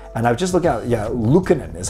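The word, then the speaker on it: Lukkonen: And I've just looked out, Lukanen is how you say the goaltender's last name.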